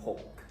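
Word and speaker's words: หก: hawk, except you take out the airy part, you don't have to say K. Ho. So you just pretend you're going to Hawk. say the K and say Oh, hawk like and stop it.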